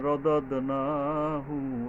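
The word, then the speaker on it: رددناه: সুমমা রদাদনাহু আসফালা সাফিলি রদাদ দুইটা দ প্রথম দালের পরে আবার দাল আসছে দ্বিতীয় দলের উপরে কলকলা পড়তে হবে রদাদ না না এর উপরে এক আলিফ টানতে হবে আসফালা সিন আসছে উচ্চারণে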